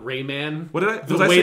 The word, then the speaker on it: Rayman: think that would happen i love that you pronounce it raymond not rayman what did i the